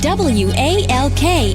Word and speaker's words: walk: And W A L K is walk.